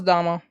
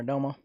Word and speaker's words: Damo: Alright, so that was Damo. Or Domo, depending on how you say it.